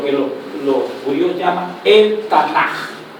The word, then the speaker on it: Tanaj: En el Antiguo Testamento nosotros tenemos lo que los judíos llaman el Tanaj. El Tanaj, esa J que suena, se escribe K pero suena J, es el Antiguo Testamento de nosotros.